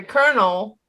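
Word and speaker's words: colonel: word for the military kernel which is spelled c-o-l-o-n-e-l is spelled different but pronounced the same as kernel k-e-r-n-a-l kernel carnal a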